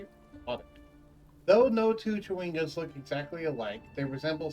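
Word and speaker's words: Chwinga: By the way, it's pronounced Chawinga.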